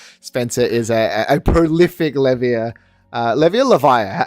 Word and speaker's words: Levia: is a a prolific levia levia Lev how do you pronounce it um I say laa laa okay so a prolific